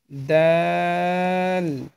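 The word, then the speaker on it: دال: আপনার সামনের, সরাসরি সামনের যে দুইটা দাঁত রয়েছে, সেই দুই দাঁতের গোড়ার সঙ্গে আপনার জিহ্বার আগা লাগিয়ে ত, দাল, তা এই তিনটি হরফ উচ্চারণ করবেন, তাহলে শুদ্ধভাবে উচ্চারণ করতে পারবেন। দাল, দাল, দাল।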